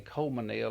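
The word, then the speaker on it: Colmesneil: c-o-l-m-e-s-n-e i l yeah the natives say leave the s out and it rolls out a lot easier just say coleman nail instead of trying to say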